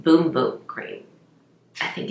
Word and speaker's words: bumbum: the Brazilian it says bumbum cream but I looked on their website and they pronounce it boom boat great I think it's